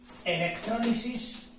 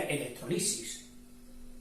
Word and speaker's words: electrólisis: O sea pondremos aquí electrólisis yo siempre la he dicho de forma esdrújula Aunque me parece que hay alguien que también lo lo sigue pronunciando o lo pronuncia electrolisis de forma llana eh dentro de la